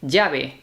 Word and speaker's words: llave: So here in Spain, although sometimes you'll hear the double L in other pronunciations as a Y, here it tends to lean toward a J sound, the J, but not a hard, super hard J, although it can be, depending on the moment.